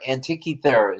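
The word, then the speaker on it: Antikythera: following that antique Thea anti anti anti Thea antia is the proper pronunciation a Greek analog computer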